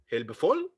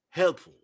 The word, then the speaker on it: helpful: also this is here it's a word full but when it becomes a suffix it's not full it's helpful helpful they say that this is a syllabic okay so we don't pronounce it into two as if they were two words two separate words okay they have become